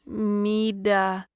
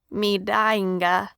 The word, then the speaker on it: Midinga: "Who's Mida? He stumbled over the word. "Midinga," Madge replied, stressing each syllable.